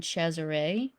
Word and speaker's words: Cesare: VI, and his children Cesare. Down there it's spelled Caesar, but commonly it's pronounced and spelled Cesare, and then Lucretia.